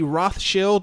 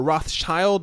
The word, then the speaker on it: Rothschild: italic buter in' questioned the authenticity of the roth shield or Rothschild depending on how you want to pronounce it banking Empire after rumors emerged of